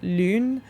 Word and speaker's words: Lune: In the game, it's pronounced Lune. If you're saying it in French, it would just be Lune. Lune literally translates to moon in French.